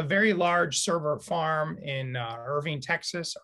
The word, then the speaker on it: Irving: So they have a very large server farm in Irving, Texas. Irvine, I say it wrong every time.